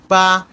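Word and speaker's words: 八: Means five, and then পা, পা, এটা কিন্তু বা বলা না অ্যাকচুয়ালি, এটা আমরা সবসময় আমাদের টিচাররা যখন শিখেছে তখন তারা এভাবে উচ্চারণ করে পা, পা।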